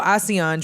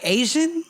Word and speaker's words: Asiahn: for anyone interested in ASEAN, how do you spell that? It's ASIAHN. Because I was like Asian, bitch. Bit. ASEAN.